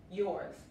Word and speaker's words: yours: La S, la S aquí también se pronuncia como la Z. Yours, yours.